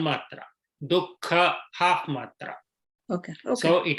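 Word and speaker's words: दुःख: In places like Dukkha or Sukha, there the Visarga is half. Yeah. Dukkha. We don't say Duhkha or Suhukha.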